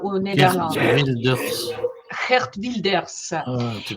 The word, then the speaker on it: Wilders: de rville redvilles à au néderland Wilders hert wildilders tu prononces c'était Iness hein c'est RT Wilders wildilders Gérard wildilders ah d'accord et eu il y